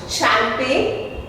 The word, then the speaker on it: champagne: Champagne. G silent.